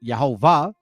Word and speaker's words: Yehovah: Now the E is high. The O has a arrow up, and the A has an arrow up, defining how to pronounce these names. Yeho. You see that? Yeho. And then Va.